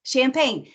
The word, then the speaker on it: champagne: But we're making this like Charlotte, yes, champagne.